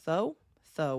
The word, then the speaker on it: Thoth: His name's uh Toe or Tho. Tho. Oh. Uh yeah. Yeah. Yeah. Wait, it's not Thoth, is it? It is Thoth, but you don't say the last th.